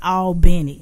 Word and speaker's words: Albany: And, is it Albany or is it Albany?